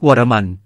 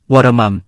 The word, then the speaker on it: วรมัม: หมายถึง ป่าที่เป็นมรดก ท้ายเสียงต้องออกเสียงตัวสะกด ร ที่เล่าให้ฟังเพื่อจะให้เข้าใจชื่อนี้อย่างถูกต้อง อีกคำหนึ่งที่อยากจะพูดให้เข้าใจคือการออกเสียงท้ายชื่อของกษัติย์ว่า "วรมัน" ในภาษาไทยและภาษาอังกฤษ มักจะได้ยินการออกเสียงแบบนี้ แต่ในเว็บภาษาเขมรปัจจุบัน เขียนทั้ง วรมัน และ วรมัม คือออกเสียงได้ทั้ง 2 แบบ แต่สำหรับผมจะออกเสียงตามจารึกต้นฉบับ ที่เขียนว่า "วรมัม" ทั้งหมด ไม่มีจารึกไหนเขียนว่า "วรมัน" เลย มาดูจารึกที่ปราสาทโลเลย ในกรอบสีขาว มีคำว่า พระกอม